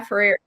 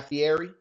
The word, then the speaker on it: Fieri: I mean, And the guy Ferrari, however you say his name, the guy Guy Ferrari. Fieri.